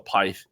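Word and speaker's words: pyth: talk about those so pit or py uh depending on how you pronounce it again Swedish people tell me it is pronounced pit I I just can't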